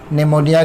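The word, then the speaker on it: pneumonia: इस पीछे क्या निमोनिया निमोनिया की स्पेलिंग में पी आता है साइलेंट होता है और बेल का मतलब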